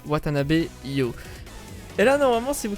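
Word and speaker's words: Watanabe You: Et voilà comment ça se prononce, Watanabe Yo.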